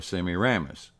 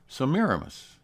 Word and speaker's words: Semiramis: and today she's known by the name of samiramis now a lot of people mispronounce that and call her semiramis but it's really pronounced samiramis originally samiramis was known by the Samaran name